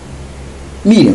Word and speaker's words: Miriam: Miriam, pela pronúncia hebraica, Miriam começa com Mi.